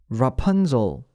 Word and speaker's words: Rapunzel: 라푼젤 발음 자체를 해보는 게 도움이 될까요? Rapunzel.